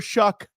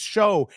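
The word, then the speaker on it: Shough: They kept calling him Tyler Shuck, Shouck. Tyler Shuck. Then somebody got a hold of the commentators or whatever. They were like, "It's Show," and they kept calling him Shoe.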